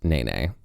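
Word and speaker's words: Nēnē: that's where we're headed now and it is pronounced Nene and if someone personally who was like obsessed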